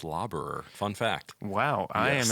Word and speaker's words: Laberer: here by Mr laborer how you doing today I'm will uh so my last name's actually pronounced lobber fun fact wow I